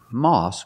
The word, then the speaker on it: moss: Moss grows on rocks. Pronunciation, ah, ah, moss. Moss grows on rocks. We can hear the difference between moss and rocks. Moss has the aw sound, like saw and call.